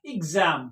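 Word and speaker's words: exam: है वो क्या निकलेगी एक्स का साउंड निकलेगा एग्जाम क्या पढ़ेंगे एग्जाम तो इसी तरह से यहां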